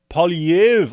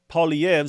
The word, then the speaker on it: Poilievre: I'm still getting it wrong, but apparently they don't pronounce the re at the end. Don't know why they put it on there.